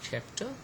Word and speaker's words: chapter: Here in this case we have stressed the first syllable in the word chapter and the second syllable in the word admire, okay.